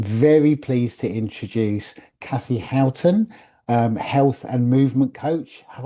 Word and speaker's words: Houghton: And I'm very pleased to introduce Cathy Houghton, health and movement coach. Have I pronounced your surname correctly, Cathy?